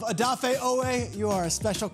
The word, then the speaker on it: Odafe Oweh: MR. SLAYER, YOU HAVE BEEN MISPRONOUNCING YOUR NAME, IT IS O DOFF FAYE. WHAT WAS IT KYLE? ODAFE OWEH.